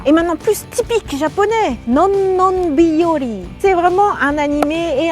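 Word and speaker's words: のんのんびより: En réalité, combien de syllabes y a-t-il? Non, non, biyori. 7. Ne pas contracter en 4.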